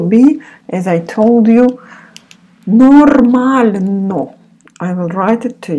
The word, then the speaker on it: нормально: This in Russian called soft sign, and it makes the letter which it follows softer. you don't pronounce it. So just when you see it, recognize, but you don't need, mostly also for the grammar, for pronunciation a little bit and for the grammar you will use. So it's called soft sign. Нормально. So without this soft sign, it would be нормально. With softer, нормально.